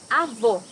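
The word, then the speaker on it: avó: also say grandmother here need to hear the sound of the last o in the syllable it should be an open o as the same portuguese delicioso my grandmother makes a delicious cake avo grandfather can you hear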